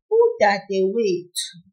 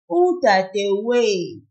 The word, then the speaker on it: udadewethu: A sister in isiZulu is udadewethu. The last syllable here is tu, that's T-H-U. The one before it is we, the W-E. That's the one we pull a little. And so we say, udadewethu, udadewethu.